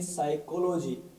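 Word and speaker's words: psychology: प आ रहा है एस से पहले प आ रहा है तो यहां पर प साइलेंट है जैसे इस वर्ड को पढ़ेंगे साइकोलॉजी इस वर्ड को पढ़ेंगे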